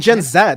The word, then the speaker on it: Gen Z: know let's call it gen Zed because I grew up in England and that's the way you pronounce z so like you know